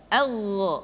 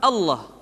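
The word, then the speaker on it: الله: pada poin poin sebelumnya yang ketiga ini adalah pengucapan lafal Allah Hai level Allah dimanapun kapanpun maka lem yang terdapat pada level udahlah tersebut mesti ditebalkan Allah Rasulullah kecuali kalau lafadz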